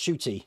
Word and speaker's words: Ncuti: It said as Shooty. Yeah, Ncuti is pronounced Shooty, just so you know.